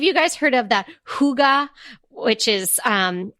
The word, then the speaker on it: hygge: Have any of you guys heard of that hygge, which is spelled Hygge? So for the longest time, I thought it was like huggy, which I think is kind of better than hygge.